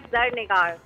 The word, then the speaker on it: Zarnigar: मेरा नाम KPK के साइड का नहीं है, actually it's a Persian name and it's pronounced like ज़रनिगार।